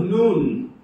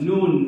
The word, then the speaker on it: Nun: Joshua the son of noon that's the Hebrew pronunciation of the word noon because we say son of none it causes a little